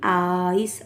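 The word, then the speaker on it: ice: इ की ध्वनि नहीं निकालनी। इ की ए की इस तरह की ध्वनि नहीं निकालनी है। तो आई सी ई आइस मतलब बर्फ बी आई जी बेक बड़ा।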